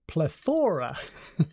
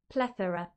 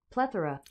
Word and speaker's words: plethora: much excess so much plethora but I always pronounced it plethora pleora but in British English it is plethora plethora and also in American English plethora plethora excess a lot of so yeah that